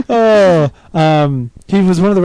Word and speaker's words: Pizzolatto: how he says, hi, you're talking to Nick Pizzolatto. Pizzolatto.